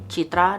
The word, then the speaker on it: Citra: I think it's Citra? Citra? I don't know how to say the FMC's like name, but it's actually kind of like an Indonesian name. Citra, that is what it is.